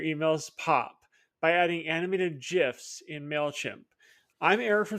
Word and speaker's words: GIF: And yes, it's pronounced GIF.